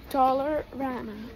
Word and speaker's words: Dollarama: Dollar Rama. It's like dollar and Rama.